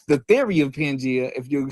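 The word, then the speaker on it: Pangaea: Hey, first first of all, first of all, the crazy thing is is pronounced pangia.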